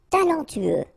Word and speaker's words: talentueux: Talentueux. Final X not pronounced. Then you get this E, U together. E, then T-U. Tueux. Talentueux. Talentueux.